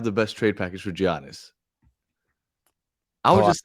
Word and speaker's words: Giannis: How do you pronounce it? Giannis. Giannis because I say G. I Okay, I guess I pronounce the G. Say you say Giannis. Giannis.